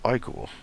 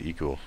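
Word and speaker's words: ichor: I can fill it with magical eal that's pronounced iore I'd said eal I'm an idiot choose your iore wisely uh so the iore of renewal refills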